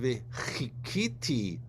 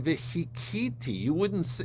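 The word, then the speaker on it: וְקִוֵּיתִי: wait upon the Lord, v'chikiti et Adonai, you would be a blasphemer, because you would be reciting v'hikiti. You don't pronounce your chet correctly. You pronounce it like a hey.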